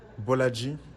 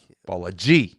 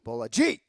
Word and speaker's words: Bolaji: I put the wrong emphasis on the wrong syllable. Yeah, it's a tough one, yeah. right? That first name is the reason it's the pronunciation of the week. Bolaji. Bolaji. Like gangster.